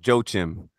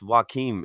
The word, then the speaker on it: Joaquim: and Joaquim good people everybody calls him Joe Jim but but that is actually pronounced Joaquim if you're not a